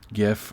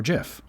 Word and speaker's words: GIF: you first saw gif why you heard it in your head as gif or jif and to do that we need to look at patterns and regularities in the english lexicon i'm going to disappoint you right away both forms can be justified and because english speakers understand both of them implicitly both forms are right there you go the